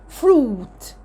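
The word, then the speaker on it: fruit: اليو لو جه بعدها اي تتنطق كانها 2 او بصوتها اللونج الاو، زي فروت، فروت، جوس، جوس. يبقى هنا اليو لو جه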